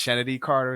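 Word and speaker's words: Chennedy: I see a lot of discourse about the Is it Kennedy Carter? Is that how you pronounce her name? Yeah, Kennedy. Kennedy. It's odd. It's Kennedy with a CH. It's CH, Okay, but it's Kennedy.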